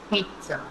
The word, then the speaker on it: pizza: Again, children, it's not pizza, it's pizza. It's pronounced as pizza. When you pronounce it, you will pronounce it P-E-E-T-Z-A.